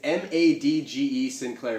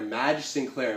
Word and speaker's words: Madge Sinclair: I don't want to butcher the pronunciation of her name. It's Madge Sinclair. Madge Sinclair.